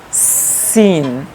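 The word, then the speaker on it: سين: place is this, that when the corner will touch to the upside front teeth, that then this will be pronounced sin, sin, sin.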